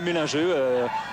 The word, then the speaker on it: Mellinger: Ici on prononce Mellinger, en fait c'est un Français, donc on peut l'appeler mélangeux, on peut varier.